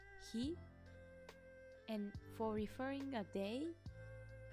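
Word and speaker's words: 火: You can read it as hi.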